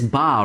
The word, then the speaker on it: Ba: it is ba right it is ba he's freaking out that he says paw every time it clearly is a b it's elite battle right do you pronounce a b like a p no because anybody would